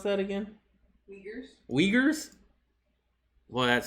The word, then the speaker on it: Uyghurs: How you pronounce that again? Uyghurs. Uyghurs? Well, that sounds like a very naughty term. Uyghurs.